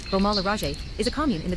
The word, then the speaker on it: Beaumont-le-Roger: Beaumont-le-Roger, French pronunciation, Beaumont-le-Roger, is a commune in the department of Eure in Normandy region in northern France.